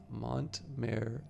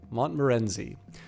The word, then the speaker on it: Montmorency: So this is the let me see if I can figure out how to properly pronounce this. Montmerenzi. Montmorency.